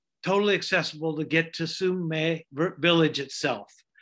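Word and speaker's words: Sumeg: And he says that there is no hard G sound in Yurok.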